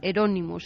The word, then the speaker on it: Euronymous: Y Euronymous como el Bosco.